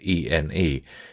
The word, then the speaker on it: ene: facilitating the memory processes the word ene is pronounced like any with just sufficient attention to the final vowel to distinguish it from the word n now connecting the numbers